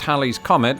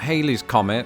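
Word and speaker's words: Halley's Comet: so did Lawrence Olivier Hal's Comet which is pronounced Hal's Comet and not Haley's Comet had been recorded numerous times since 240 BC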